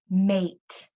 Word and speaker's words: mate: So instead of saying a like mat, the A is saying its name. A, mate, mate.